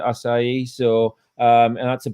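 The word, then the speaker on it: açaí: akai well pronounce acai the brazilians pronounce it acai so um and that's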